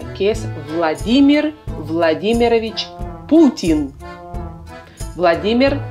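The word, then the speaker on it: Владимир: es vladímir vladímirovich putin vladímir vladímirovich putin no es vladimir y tampoco tienes es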